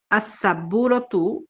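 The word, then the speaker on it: السبورة: পড়াও এসেছে লেখাও এসেছে কিন্তু আসসাব্বুররাতু এখানে আসসাব্বুররাতু এখানে যে আলিফ লামের যে লামটা এই লামটাকে আমরা পড়তে পারলাম না তারপরে দেখুন আসারিরু এখানে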